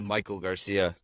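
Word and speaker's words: Maikel Garcia: But if is it Mackle Garcia, Mackeel, how do you pronounce it? It's it's basically Michael Garcia.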